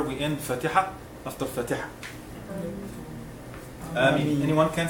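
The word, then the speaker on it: آمين: They say Ameen, and this is wrong. This is not right. It should be 2 beats, and then in the other one is Mad Arab al-Sukun. You can make it 2, 4, or 6. It's okay. So you should say Ameen. This is the right way of pronouncing.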